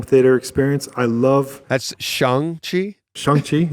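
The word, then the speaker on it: Shang-Chi: experience i love that's shangchi is that how you're supposed to say that's that's how they say it in the movie okay um us americans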